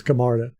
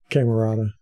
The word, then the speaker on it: Camarda: and Molly were like is that how you pronounce his name we've been saying wrong for a couple years now so we looked it up now it's camarda it's not camerata okay oh turn over trying